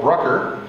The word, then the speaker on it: Brucker: And with us today, April Brucker. Yes. Who sounds like Hooker.